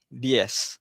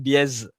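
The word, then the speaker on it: diez: Okey di ni nampak eh ada z ni dia bukan diz diz bukan di macam S.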